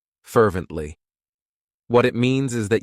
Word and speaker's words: fervently: It has 3 syllables, and the stress is on that first syllable, fervently.